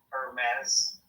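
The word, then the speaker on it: Hermès: The H is silent. Hermes.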